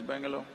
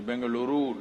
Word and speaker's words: Bengaluru: in bangalore you know where's bangalore it is bengaluru now okay you have to pronounce it rightly and i'm there and these are conferences for under 25.